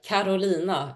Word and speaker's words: Carolina: In Swedish, it's actually uh Kolina. It's like a rolling arolina. Love it. Carolina.